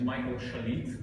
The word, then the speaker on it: Michael Shalit: So hi everyone, my name is Michael Shalit. That's the correct way to pronounce it.